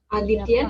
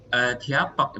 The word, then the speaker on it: अध्यापक: Aditya nama orang. Adhyapak, bukan Aditya ini. Adhyapak bacanya.